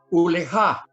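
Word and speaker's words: ולך: Uleja. Uleja. Con acento en la A.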